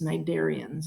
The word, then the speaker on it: cnidarians: next phylum is the nidarians you don't pronounce the sea it's cnidarians and that's all of